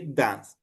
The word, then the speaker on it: dance: Is the verb ending in a mute E, for example, dance, it means we don't pronounce this E. We don't say dance, right? We say dance.